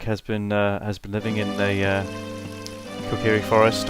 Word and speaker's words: Kokiri: I always pronounced it as Kokiri when I was first playing this game, but I think you know, hearing it said aloud by the community, I believe it Kokiri is the accepted pronunciation.